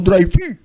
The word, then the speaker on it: Dreyfus: había sido escrita por Alfred Dreyfus, o Dreyfus, como lo pronuncian ellos.